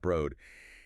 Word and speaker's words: Broad: Right, pronounced Broad.